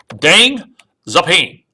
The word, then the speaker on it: Deng Xiaoping: you need to know, Deng Xiaoping, it's spelled Xiaoping.